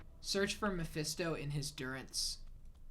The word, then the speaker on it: Durance: a long stream the Durance of hate search for Mesto in his Durance that's how it's said right Durance like endurance you don't know how